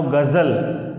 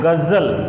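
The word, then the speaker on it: ग़ज़ल: तो जब गज़ल लिखना हो तो हर हाल में ज के नीचे ये बिंदी लगेगा, इसका उच्चारण होता है ज, जबकि हिंदी में जो ज होता है वो होता है ज।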